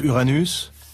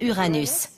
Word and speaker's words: Uranus: mauvais jeux de mots et je prononce uranus les gens pensent aux mots anus je prononce uranus ce qui est probablement très proche de la prononciation originale du nom du dieu dont elle tire son nom si vous trouvez qu'uranus